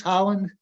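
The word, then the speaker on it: Haaland: not sure how to say this brackeen versus Holland that's correct the interior secretary um actually it's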